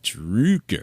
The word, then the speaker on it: Droucker: Droucker. There you go. Droucker.